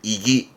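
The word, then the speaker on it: 意義: 발음은 이기.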